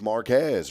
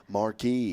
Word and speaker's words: Marquez: tamale man and so whenever I see a town that's spelled m a r q e z you would think it's Marquez right it is but it ain't here in East Texas you know what it is marquee Marque I'm like somebody